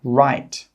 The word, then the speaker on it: write: W is often a silent letter when it's pronounced at the start of a word before the letter R. For example, right.